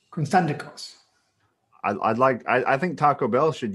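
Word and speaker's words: Konstantakos: Constantikos.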